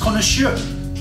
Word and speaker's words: connoisseur: it with an ur google tells me it's connoisseur so i'm going to go with the google the google pronunciation purchased from our good friends at crafty